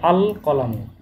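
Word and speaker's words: القلم: কলামুন, যখন আলিফ লাম যুক্ত হলো, আল যোগ হচ্ছে কলামুন, তাহলে হবে আল কলামু, আল কলামু, আল কলামু।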